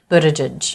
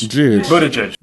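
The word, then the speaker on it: Buttigieg: let's talk consonants the T is a flap T which is normal for a T between vowels in American English it sounds like the date Buddha tidge Buddha and the G is it a hard G like go no or a soft G like judge looks good JIT Boadicea G but it is Jude footage so that's how he says his own last name but it sounds like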